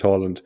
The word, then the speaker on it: Haaland: Yeah, probably, but the correct pronunciation is Haaland.